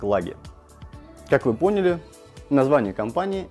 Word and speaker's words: Clage: фишках и всем остальном очень часто задают вопрос о правильности произношения марки клеить флаги как же все-таки она называется правильно названием будет лаги и вот почему в